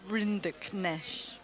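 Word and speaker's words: Rinderknech: Can you pronounce Arter's surname? He'll be walking onto the court today. Reinda Kesh. Well done. Reinda Kesh. Have you got it, Jill, as well? Render Kesh.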